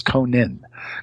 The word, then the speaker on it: Conan: It's Conan, like with an E, a soft E, not a hard A, not Conan.